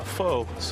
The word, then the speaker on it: pho: excited today on the show we're talking about F not f it is pronounced F and we're at fide gon the